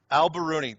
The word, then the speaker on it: al-Biruni: A: al-Biruni. M: al-Biruni, there it is. Yeah, his full name is Persian, it’s tough to pronounce.